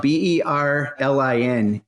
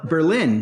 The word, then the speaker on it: Berlin: New Hampshire that spelled BER Li N and you would think it's Berlin Berlin but in New Hampshire they call it Berlin and I guess they